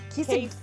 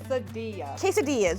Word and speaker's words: quesadillas: Did I say quesadillas? You did say quesadillas. Quesadil quesades. Quesadillas.